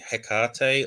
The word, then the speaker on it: Hekate: Yeah, so I mean, I say Hekate, or generally sort of something that's similar intonation. Obviously, the ancient Greek version, there was no hard H, and so it was more like a Hekate sort of sound.